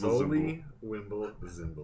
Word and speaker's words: Zoli Wimblezimble: I only know because I write it down phonetically because of all your K's and T's and stuff. But like, it is Zoli Wimble Zimble. That was the way it was presented.